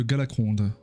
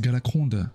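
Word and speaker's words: Galakrond: direction le repos de galacrond dernière fois je crois j'ai dit galacron c'est galacrond je crois que le D se prononce galac c'est un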